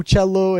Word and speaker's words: Uccello: to come out and pronounce my name correctly and say, "Make sure it's Uccello," and it means little bird.